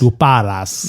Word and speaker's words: lupara: His two shepherd bodyguards always carried their luparas with them when accompanying Michael on his walks. Alex, say it with me. Luparas. Lupares. Luparas. Luparas.